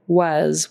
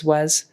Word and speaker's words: was: And riding on the caterpillar was, with a Z, was.